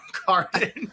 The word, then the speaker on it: Carden: So, in a neverbeforeseen standup writing comedy podcast, first we're gonna now get part two of joke one for John Carden. Yeah. like garden get his name right.